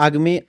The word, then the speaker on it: Acme: Agme se escribe A, C, M y E de estudio, como el como el del bomba. El de la bomba. El de pip pip. Sí, porque uno siempre dice age. Y entonces uno suena como con he, entonces como para aclarar depende si tiene gripa o no.